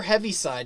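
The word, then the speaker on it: Heaviside: after a person and you say heavy but it's oliver heavyside and so there's not an ea in there not did i spell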